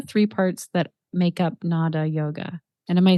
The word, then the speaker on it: Nāda: what are the three parts that make up NADA yoga and am I saying it correctly as well yes exactly so NADA yoga in general is just the yoga of